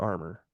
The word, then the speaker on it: Armour: Armour, Dr. J. Andrew Armour, except it's spelled Armour instead of, like armor, Armor.